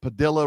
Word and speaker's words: Padilla: We sent a couple airplanes down to El Salvador full of illegals and one of them was the Maryland man that Padilla rhymes with armadillo went down and had